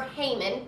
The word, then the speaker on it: Haman: was come on or Haman pronounced either way and he was the